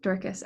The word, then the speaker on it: Dorcas: want to mispronounce it yeah it's dorcas that's correct dorkus okay thank you for